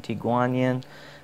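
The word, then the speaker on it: Tie Guan Yin: The tea I'm going to be brewing for you today is called Tea Kuan Yin, or there's also an alternative pronunciation, Tea Guan Yin, but it translates as Tea of the Iron Goddess of Mercy.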